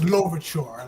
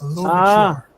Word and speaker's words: Louverture: Yeah, like it's Louverture, like a long O, L, Louverture. Louverture. Okay. As in Toussaint Louverture.